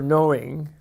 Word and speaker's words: knowing: the verbal route for knowing cognate with the Greek know whence are you English knowing gets it silent K it is the human